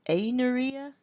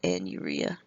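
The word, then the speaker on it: anuria: and this is called an urea alright and urea some people pronounce it a Nuria I was taught to pronounce it in urea anyway so a very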